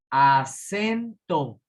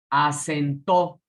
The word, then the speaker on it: acento: Acentó. ¿Sí? Es una palabra distinta. Fíjense cómo cambia la acentuación si es una palabra diferente. Va de nuevo. Acento. La sílaba tónica es sen.